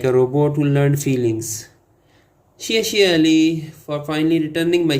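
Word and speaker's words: 谢谢: In Chinese, we say xie xie. It's like a pop star sneezing politely.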